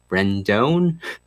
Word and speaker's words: Rendon: I'll also be doing an update on recall Rendon.